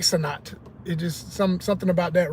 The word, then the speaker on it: Senet: And it was known as Senet or Senat. I've never been officially sure exactly which way you would pronounce that, but the way it's spelled, and there's two spellings. There's one is S-E-N-E-T and another one is S-E-N-A-T. So I like Senat.